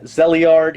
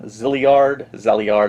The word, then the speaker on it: Zeliard: games kind of like zeliard here or zeliard zard I believe it's pronounced or stuff like pools